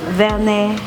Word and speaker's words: Werner: résidence Werner house donc Werner ça s'écrit avec W mais ça se prononce comme un V donc Werner house pourquoi avoir investi